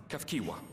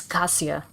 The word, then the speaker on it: Kiwa: this is my mother Kiwa see I would not known how to pronounce that just from looking at the name Kiwa I've been like mentally reading it as Casia I'm sorry oh this